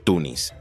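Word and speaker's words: تونس: la muy similar Tunes Tunes es la transcripción del nombre árabe que se puede pronunciar como tunis existen diferentes explicaciones para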